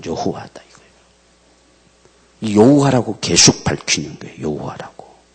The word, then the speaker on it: 여호와: 이게 단어들이 역다 보니까 오늘날 우리까지 모음자를 넣어서 발음을 하려고 하다 보니 여호와 이렇게 번역됐고 그 앞에는 예호바 이렇게 이제 해게 됐습니다 그게 이제 우리말로 우리가 쉽게 번역 되다 보니까 여호와 이렇게 이제 번역이 돼 온 거예요 근데 오늘 지금